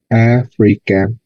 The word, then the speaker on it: África: se pronuncia esta palabra a ver Duque Cómo pronunciarías esta palabra a África Ok sería correcto el acento muy bien Duque